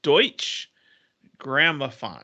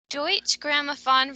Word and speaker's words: Deutsche Grammophon: It's Dutch, I think. German, I think. It's Deutsch Grammophon is how I Ah, pronounce it. Deutsche Grammophon releases the album Arthur Fiedler and the Boston Pops Orchestra Salute to Disney.